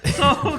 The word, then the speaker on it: Seoul: is it soul? I don't know how to pronounce it. We don't know. Soul, okay, there it is. Seoul Korea clock.